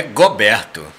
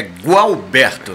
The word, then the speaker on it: Gualberto: Não é Goberto, é Gualberto, né? Muita gente chama Roberto, Gualberto, Alberto, Dalberto. Mas o certo é com G-U-A, né? Gualberto, G-U-A-L é Gualberto mesmo.